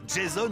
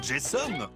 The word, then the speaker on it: Jason: c'est plutôt allez j deux prononcations possibles Jaz grâce à une double nationalité depuis toujours Jason ou Jason enchaîne les allers-retours entre